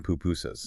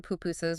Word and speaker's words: pupusas: There's that great story in the source, really relatable, about ordering pupusas. Yes. Okay, so they're at a market in San Salvador trying to order pupusas, which are, the thick corn or rice flour